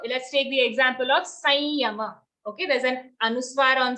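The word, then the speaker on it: संयम: If there's an anuswar coming before a ya, we have to pronounce that anuswar as a nasal ya itself. Okay, so that's why we say Sanyama, Sanyoga.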